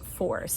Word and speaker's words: phos: So the word is pronounced force, but it's P-H-O-S. It's force, but that's how it's pronounced. just like phosphorus or phosphorescence.